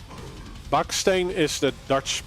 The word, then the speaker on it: Baksteen: So um like Bakane is the Dutch pronunciation of his his name.